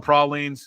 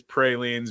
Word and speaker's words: praline: Yeah, it's pre it's a the Midwest way of saying it is pralines, but Prolines is how they say it down there.